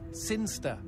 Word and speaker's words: Sinchester: But Elliot Thomas was still stuck down on Earth in the boring town of Sinchester. Sinchester. Sinster. What? It's pronounced Sinster. How do you know? My cousin's from Sinster.